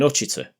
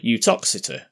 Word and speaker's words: Uttoxeter: If we keep going along Uttoxeter Road for a while, funnily enough we'll end up in Hutch Eater, or Uttoxeter, to give it its posh pronunciation.